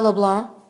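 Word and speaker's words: Leblanc: l a n c but the C is silent yes sir okay do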